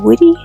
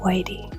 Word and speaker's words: Whitty: 1482 Whitty. Not Whitey.